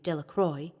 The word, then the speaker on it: Delacroix: Bobby and Harry Jones and Dickie Delacroix, the villagers pronounced this name Delacroix, eventually made a great pile of stones in